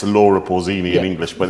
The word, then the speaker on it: Laura Pausini: I shall pronounce it properly, not the English version. I should say Laura Pausini.